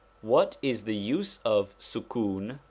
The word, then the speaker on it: sukun: is the use of sukun pronounced Suk that is with the Italian U it denotes the letter